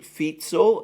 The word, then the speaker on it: Fico: commentary about it about Robert feetsel and I think that is the correct way to pronounce his name my apologies if